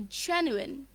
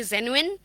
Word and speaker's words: genuine: sophisticated arranged clean yep we can say genuine that's the clean version it actually makes some sense when you hear it yup and the normal pronunciation pronunciation is maybe zenuin something like that genuine zenuine or genuine